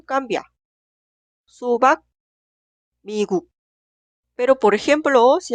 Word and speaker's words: 수박: Se pronuncia 수박, 수박.